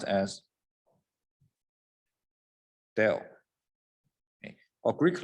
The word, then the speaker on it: del: in the past so this guy here is pronounced as dell a greek letter a nebula so now you